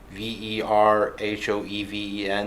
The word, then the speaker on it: Verhoeven: The original director for the first Robocop was Paul Verhoeven. I think that's how you pronounce it. Verhoeven.